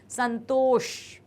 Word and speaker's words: संतोष: ये है शा शा, उसमें हमारी जीभ को थोड़ा सा हमको मोड़ना होता है, तब ये वाला साउंड आता है, संतोष।